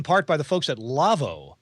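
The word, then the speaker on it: Lawo: folks at lavo lavo you may know lavo for making big fancy german audio consoles and also for being a proponent of the ravenna aoip audio system well the folks at lavo and that's spelled by the way l-a-w-o so if you want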